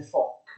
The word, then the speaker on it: VOC: Le navi olandesi vanno in tutti gli oceani del mondo, in particolare navi olandesi della Fok, che si scrive Vok. Uno di madrelingua olandese mi ha detto si legge FOC.